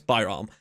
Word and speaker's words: Byam: assist from uran Byam I'm sorry I was saying it wrong apparently it's Byam and then he got